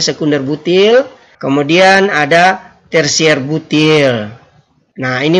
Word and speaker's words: sec-butyl: 9 kemudian ada isobutil sekunder butil tulisannya sec-butyl yang bacanya sekunder butil kemudian ada tersier-butil nah